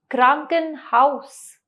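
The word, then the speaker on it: Krankenhaus: को जर्मन भाषा में क्या कहते हैं दास क्रंक हाउस दास कंकन हाउस यानी कि अस्पताल दोबारा कहेंगे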